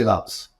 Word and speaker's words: PyMC Labs: PyMC Labs.